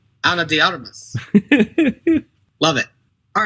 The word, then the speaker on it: Ana de Armas: How did your people pronounce it again? Ana de Armas. Ana de Armas.